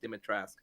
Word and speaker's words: Dimitrescu: And I'm like, oh, okay, that's how you say it, Dimitrescu. Yeah, you is silent apparently.